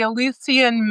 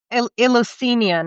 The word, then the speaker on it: Eleusinian: I wouldn't know how to pronounce it in English, but it's like Elias. Okay, the Eleusinian mysteries. I know I've said that. That's what you mean. Yeah, the Eleusinian, I think it is.